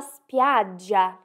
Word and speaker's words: spiaggia: Calda la spiaggia, quente a praia. E aqui nós temos o som do GI, que em italiano nós dizemos GI, spiaggia.